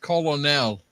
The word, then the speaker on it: colonel: Why does Colonel have an R and there's no R in it? Can we talk about that? I don't know. It's actually pronounced Colonel.